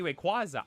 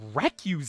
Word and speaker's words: Rayquaza: that lady get he's like oh a Shiny Rayquaza I'm like she said recu right he's like yeah I did I was